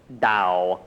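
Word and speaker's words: Tao: Um there is a Chinese book of wisdom called the Dao spelled T AO but it's pronounced Dao and um reflections on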